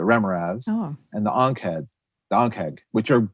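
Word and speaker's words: Remorhaz: And so when I talked to Errol, I knew he designed two iconic D&D monsters, the Remoraz, which he corrected me, that's how you say it, the Remoraz, and the Ankheg, which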